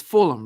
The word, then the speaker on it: Fulham: you for having me so Joanna did I butcher the city name is it it's Fulham right no you did fantastically you didn't answer